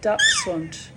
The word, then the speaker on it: Dachshund: A young woman was in there with her puppy Dachshund, pronounced the German way.